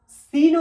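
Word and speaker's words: سين: সিনও একই রকম ভাবে দুটো দাঁত চাপার পরে জিভটা এসে ঝাটকা দেবে।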